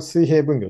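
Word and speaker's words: 水平分業: やり方ですねこれ水平分業と読みますでもう 1 個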